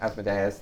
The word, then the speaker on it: Asmodeus: Asmodeus. Yeah, Asmodeus. Anya Some would pronounced pronounce it Asmodeus.